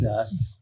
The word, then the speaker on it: sus: Oh, he's sus. Sus. Is that how you pronounce it?